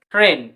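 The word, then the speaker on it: train: তো আর এ আই এন কি হবে রেন, রেন, টি আর এ আই এন ট্রেন।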